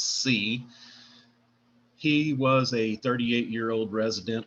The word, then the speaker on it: Siau: The victim's name is Michael Siau, spelled S-I-U, and I think the French pronunciation is C.